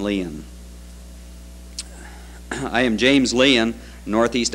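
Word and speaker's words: Lein: On the program, my name is spelled L-I-E-N. The correct spelling of it is L-E-I-N. There is the name Line that is spelled L-I-E-N. I pronounce mine Leon.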